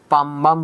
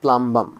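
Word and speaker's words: plumbum: উচ্চারণটা পাম্বাম আর প্রোনাউন্সিয়েশন হলো প্লাম্বাম। মানে হলো মানে কি বলবো এটাকে? প্লাম্বাম। ঠিক আছে, আমরা এটাকে উচ্চারণ বা প্রোনাউন্সিয়েশন করতে পারি পাম্বাম। এলটা উজ্জ্ব থাকবে আর কি আলটিমেটলি। আচ্ছা, তোমরা চাইলে প্লাম্বামও বলতে পারো, অ্যাজ ইউ উইশ, যেভাবে তুমি মনে রাখতে পারো।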